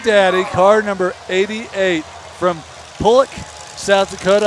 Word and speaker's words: Pollock: car number 88 from pulik south dakota i said it right i called it pollock once and i got yelled at for days it's pollock south dakota